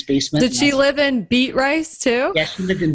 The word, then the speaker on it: Beatrice: i got started so me and uh the beatrice guy jason kapke became partners and um i